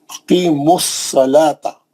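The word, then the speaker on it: أقيموا الصلاة: पड़ा जाता, बल्कि अक़ीमुस, यहाँ तो एक वाव, दो अलीफ, एक लाम, दोनों अलीफ वसली है, और वाव और लाम साकिन है, नहीं पढ़े जा रहे, साइलेंट है, नहीं पढ़े जाएंगे, सीधा मीम के पेश से साद में चले जाएंगे, अक़ीमुस सलाता, समझ गए ना।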